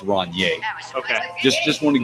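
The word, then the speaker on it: Rainier: way if you're drinking the beer it's it's pronounced Ron yay okay just just want to give you that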